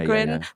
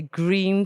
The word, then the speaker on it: Gryn: great g-r-y-n it's g-r-y-n how do you say it i say grin so people can hear grin my father used to say green so it sounded a bit english um it got the